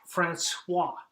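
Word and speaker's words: François: and I know that we don't say the S at the end of the words but there is one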